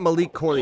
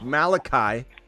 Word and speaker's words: Malachi: on this channel bro it's not Malik Cory it's Malachi we got Musgrove and